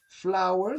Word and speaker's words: flour: Flower, ça se dit comme une fleur d'ailleurs. Ça s'écrit pas pareil, mais ça se dit quasiment pareil. Flower, fleur, et flower, farine.